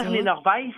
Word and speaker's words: Berliner Weisse: Berliner Weiss, et ça s'écrit là Weiss, W-E-I-S-S-E.